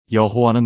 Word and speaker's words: 여호와: 그래서 하나님 이름의 자음에 아도나이의 모음을 합쳐서 여호와라는 발음을 만들어 낸 겁니다. 여러분, 이게 무슨 뜻인지 아시겠습니까? 여호와는 원래 이름이 아니라 두 단어가 합쳐진 혼합 발음이었던 겁니다.